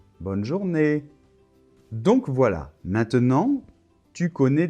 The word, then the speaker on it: bonne journée: bye bonne journée d'accord donc attention l'accent tonique est à la fin bonne journée donc voilà maintenant tu